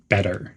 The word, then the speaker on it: better: There's a short pause after late and pronounce better as better. The T's are pronounced as D's, better.